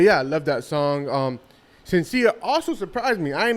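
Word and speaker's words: Shenseea: Sensia. Sensia. Oh, so forget about the H. Yeah. Sensia. Not Shen, it's Sensia. Sensia. I'll let that slide. All right. But yeah, I love that song. Sensia also surprised me.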